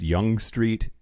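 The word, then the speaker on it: Yonge Street: it um the other thing is apparently it's pronounced young street i don't care spell your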